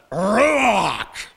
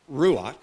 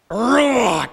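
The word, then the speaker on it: רוח: like this receive the rock not ruach but rock it's guttural it's powerful it sounds like some alien sounds like a klingon warrior of some kind using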